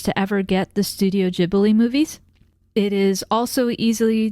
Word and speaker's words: Ghibli: And it is, according to Google, pronounced Studio Ghibli, not Ghibli. And I will probably forget this by the next time I watch another Studio Ghibli film. So I will have to look it up again. But technically it is with the soft G and not the hard G.